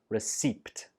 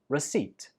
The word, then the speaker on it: receipt: There is no p sound when we say this word, so it's not receipt. It's just receipt.